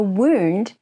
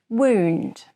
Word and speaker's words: wound: wound oh yeah a wound is what we call the damaged part wound it is spelled exactly the same as the past tense of wind but pronounced differently so i could say